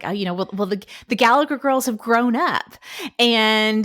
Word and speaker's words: Gallagher: And I just have to say, I grew up reading, okay, correct my pronunciation, the Gallagher Girl. Gallagher, yes. Yep.